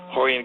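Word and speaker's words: Rorion: And then Hixon and Hoist, but they're all spelled with Rs, but they pronounced R like H for some reason in Brazil.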